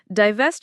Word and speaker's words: divest: So for pronunciation divevest is dvevest with the stress on the second syllable and yourself of flows together.